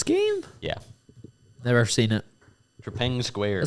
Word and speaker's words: Trepang: Trepang. Tree. Okay. Pang.